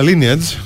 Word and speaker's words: lineage: τη ζωή ρε φίλε δεν προφέρεται lage αλλά lineage και εφόσον έχει να